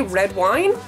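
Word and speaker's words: Redwine: I'm going to say red wine that's how it's spelled r e d w i n e but I think it's pronounced redwin and I like redwin better um I don't care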